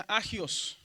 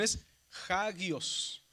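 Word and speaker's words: ἅγιος: Entonces, la palabra santo, en este caso, si no estuviera el espíritu diría agios. Pero como está el espíritu rudo aquí, la pronunciación esguios significa santo.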